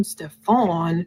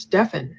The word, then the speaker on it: Stefan: almost like she's saying don't call him Stefon his name is pronounced Stefan Jennifer says no I